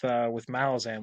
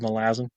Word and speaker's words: Malazan: Like Steven Erickson with Malazan, which is how it's correctly pronounced. Just by the way, 2toRamble, y'all said Malazan wrong.